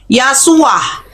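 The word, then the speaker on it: ישועה: Nah, keselamatan ini di sini bahasa Hibrunya Yasuah. Betul. Yesua. Nah, Yasua ini siapa? Iya. Kalau bacanya Yesua juga enggak apa-apa.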